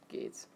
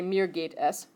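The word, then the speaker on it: geht's: here so this one is pronounced Gates okay this is mirror Gates you could also say Mir gate s that works and then you fill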